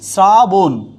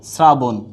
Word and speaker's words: শ্রাবণ: হয়ে যাবে কি শ্রাবণ হয়ে যাবে কি শ্রাবণ কখনো মূর্ধন্য হবে না আবার বলছি কখনো উচ্চারণে মূর্ধন্য হবে না সবসময় আসবে কি দন্তন্য